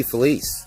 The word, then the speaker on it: Felice: Felice.